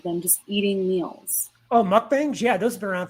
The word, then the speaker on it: mukbang: just eating meals oh mukbangs yeah those have been around for a long time yeah milk banks yeah they're uh it's it's mukbang i think is actually the pronunciation of it but yeah it's like